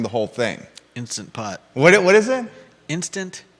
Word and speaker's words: Instant Pot: who watching the program says I love my insta poot Juda and I use it once a week